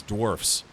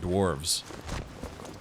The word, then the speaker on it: dwarfs: But I guess apparently the proper way to say it for, you know, for little people is dwarfs, not dwarves. I guess you could say